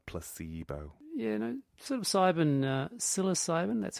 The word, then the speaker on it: psilocybin: Yeah, no, sort of psilocybin, that's how you say it, isn't it?